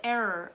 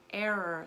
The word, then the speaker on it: error: And then in the word error, also, error, like you make a mistake, an error. Error, and you're just adding that extra little sound to it, sound to it.